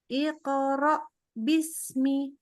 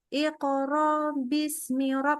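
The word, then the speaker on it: اقرأ باسم: bism kan begitu ya maka ini harus benar-benar berhenti IQ Bismi enggak boleh Iqra Bismi Nah itu enggak ada Hamzah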